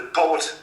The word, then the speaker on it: Poot: Now, I found out through a little bit of research that there is this family, it's called the Poot family. They are basically... So how do you spell that?